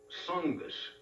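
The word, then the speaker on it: Tsongas: announced candidate is Paul suus TS o n g- a s the t is silent right Paul suus came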